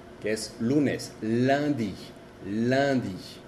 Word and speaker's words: lundi: La U y la N y la U y la M tienen la misma pronunciación que es un. Por ejemplo, un como un, uno, un. Lundi, que es lunes, lundi, lundi.